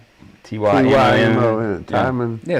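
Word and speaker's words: Tymon: Is it Timon? T-Y-M-O, T-Y-M-O-N. Timon. Yeah, Timon.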